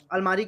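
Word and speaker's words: almirah: और अलमारी की इंग्लिश अलमीरा होता है।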